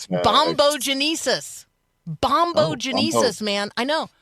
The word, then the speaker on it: bombogenesis: So, Yes, that's because there's going to be a, let's all say it together, 5 syllables, bombogenesis.